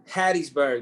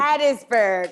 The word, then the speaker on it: Hattiesburg: but it's specifically haiti how you say it hattiesburg mississippi hattiesburg okay okay okay i was like wait a